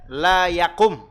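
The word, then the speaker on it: لا يقم: Wa idza qulta, kalau Anda mengatakan la yakum, mimnya disukun, minal majlisi ahadun illa Khalidun faqat.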